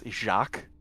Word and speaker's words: Jack: uh uh well then his name is not Jack it's jaac oh okay but it's still spelled like Jack it's still spelled like